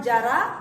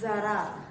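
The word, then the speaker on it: ज़रा: नुक्ता होने से उसका प्रोनाउंसिएशन बदल जाता है। इट्स नॉट जरा, इट्स जरा। जेड साउंड विल कम, जरा, ठीक है?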